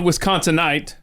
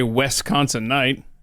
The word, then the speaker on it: Wisconsinite: things right right okay so you're a proud wisconsinite yes or should I say Wisconsin night I can't believe people do that it just grades on you yeah um but now